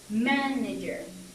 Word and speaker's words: manager: er we get and the stress is gonna be right here manager and with character this